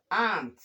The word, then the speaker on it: aunt: Then, we also have aunt. The a u here is long a, not short. Long a.